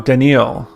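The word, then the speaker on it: Danneel: Denil Oh, Denil. I I pronounced it wrong.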